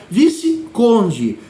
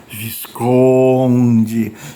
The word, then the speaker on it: visconde: ele nomera um vassalo que é o viconde que pronunciando errado fica Visconde que é o Visconde